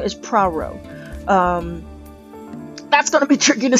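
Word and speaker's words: Poirot: Okay, so I looked it up and several sources from this story is the detective's name is Praro. That's gonna be tricky to say, but it's Praro.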